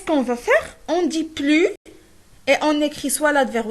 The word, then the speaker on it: plus: Le S de plus ne se prononce plus si nous avons un adverbe ou bien un adjectif.